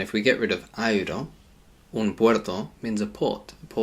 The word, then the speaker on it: aero: So whereas we'd say A-E-R-O, like an aeroplane, we just say aeroplane, air. In Spanish, we do have to pronounce both of those vowels separately.